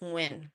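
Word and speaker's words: Nguyen: And I I got you with the with the book Don't Believe Everything You Think by Joseph Nuin Nuin Nun, however you want to pronounce it. It's pronounced Nuin, but it's Don't Believe Everything You Think: Why Thinking is the beginning and ending of your suffering.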